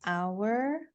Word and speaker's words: hour: The same rule also applies for certain words that do not begin with a vowel. For example, with letter H, we have hour. So when we say hour, or we have another word, honest.